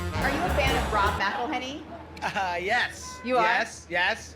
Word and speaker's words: McElhenney: I would have done McElhenney because they're really stressing, not Mick.